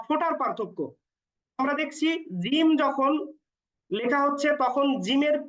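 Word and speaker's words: جيم: অতিরিক্ত টানবো না কিন্তু যখন আমরা বলছি জিম জিম লিখতে কিন্তু বাংলা দুইটা বর্ণ লাগে একটা হচ্ছে বর্গীয় জ আরেকটা হচ্ছে ম তাহলে জিমকে অবশ্যই আমরা টেনে উচ্চারণ করব জিম এরপরে যদি হা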